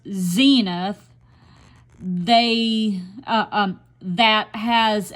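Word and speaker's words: Senath: Missouri is a community called cenith pronounced Zenith they uh um that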